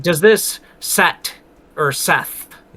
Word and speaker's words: Set: And Oprah like does this set or Seth? Yeah. Seth. It's uh it's a but it's pronounced Set.